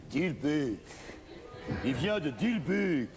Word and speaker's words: Dilbeek: Comment prononce-t-on, pour pas que je dise bêtises? Dilbeek? Dilbeek, Dilbeek.